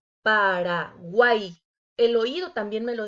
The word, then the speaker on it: Paraguay: Paraguay. Aquí se forma otro triptongo y como dijimos anteriormente, debe de quedar junta en una sola sílaba. Paraguay. El oído también me lo dice. Paraguay.